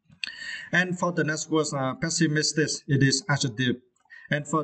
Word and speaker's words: pessimistic: And for the next word, pessimistic, it is adjective. And for this word, you need to stress the third syllable, miss, right?